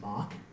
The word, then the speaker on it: MOC: An MOC view, pronounced Mach, of the North Polar region of Mars was obtained on September 12th, 1998.